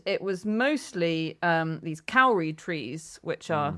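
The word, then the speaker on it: kauri: And it was mostly um these cowry trees which are is that how you say it? Cowry. Kore. Yeah, Kore. Yeah, it's hard to roll my ass, but if you can, you can.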